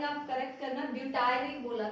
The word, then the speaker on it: butyric: एक सेकंड, इसके स्पेलिंग आप करेक्ट करना, ब्यूटायरिक बोला था मैंने, BUTYRIC।